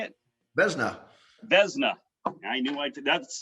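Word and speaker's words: Vezina: played for six nhl teams i hope i pronounce this right right the xena trophy is that how you say it beznau vesna i knew i did that's so cow guy for you all right sorry vesna trophy winner in 1988 um that's for the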